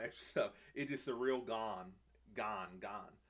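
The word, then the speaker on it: Gane: stuff it just surreal gan gan gan man say Gan it's not even a hard name to pronounce some people have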